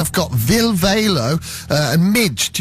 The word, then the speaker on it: Mige: And I've got Ville Valo and Mige. Is that how you say it, Mige?